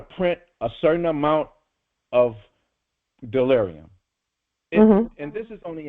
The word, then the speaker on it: Dollarium: So it is pronounced delarium and it is and and it and it is money.